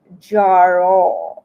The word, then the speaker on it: Jera: It says, and it's pronounced Jaro. Okay, Jaro. That's how you're supposed to pronounce it, Jaro.